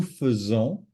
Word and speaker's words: faisons: It's an Imagine there was an E there as opposed to AI. If there were an E there, it would be simple because the E is pronounced E. So nous faisons, then vous faites, then ils, elles font.